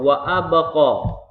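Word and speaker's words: وأبقى: Huruf qalqalah sugronya ada ba. Ba-nya sukun atau mati dan dia berada di tengah kata, dan ini dia berada di tengah ayat. Itu makanya wa abqa. Cara membacanya itu sugro. Wa abqa. Sugro itu apa? Kecil. Dah, apanya yang kecil? Bergetarnya kecil, membaliknya juga kecil.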